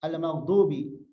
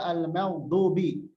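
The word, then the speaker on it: المغضوب: Sempurnakan pengucapan huruf mim pada kata al-maghdubi. Bacalah dengan tipis, jangan mo, tapi ma. Jangan terpengaruh oleh huruf ghain yang tebal.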